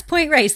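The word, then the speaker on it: Point Reyes: I was at Ray's I always say the name wrong what does it raise raise yes point raise thank you they've got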